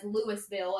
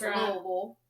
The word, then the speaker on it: Louisville: That's like everyone who's doesn't live here says Lewisville and everyone's like it's Louisville. It's Louisville Louisville. Like you have to say it like you're mumbling.